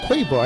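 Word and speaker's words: קבר: It's a little bit hard to pronounce, but it's kavar. No, quavar. That's what it says, quavar.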